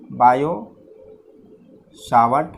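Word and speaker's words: Biot–Savart: और इसको डिटरमाइन करने के लिए यहाँ पे बायो-सावर्ट लॉ, यानी कि जनरली बायो-सावर्ट लॉ, ये टी साइलेंट होता है, बायो-सावर्ट लॉ।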